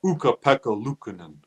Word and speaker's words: Ukko-Pekka Luukkonen: Do you want to try and pronounce his name properly? Well, I can say it. Ukko-Pekka Luukkonen.